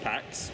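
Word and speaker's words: PackX: all kinds of stuff we've made packs as well pronounced packs packs pack pack X we do have it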